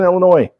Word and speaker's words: Illinois: you can yeah yeah it's in Illinois silent what up with Illinois